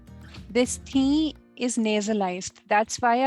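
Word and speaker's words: थीं: First is tha, thi, the, and thi. This thi is nasalized. That's why I've underlined N here. You need not read this N, you need not pronounce this N completely. It's only half pronounced.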